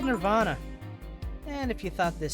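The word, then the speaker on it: N1RV Ann-A: the hotel instead okay it's N1 rvnb but it's going to be pronounced Nirvana I get it yeah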